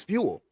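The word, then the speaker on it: Feenwell: well it's it's spell it's spelled a little different it's f-e-e-n w-e-l-l it's like jewel but with an f oh okay he said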